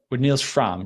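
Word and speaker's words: Frahm: was kind of commissioned by famous pianist Niels Fromm, right? Is that how you pronounce it? It's Fromm, yep.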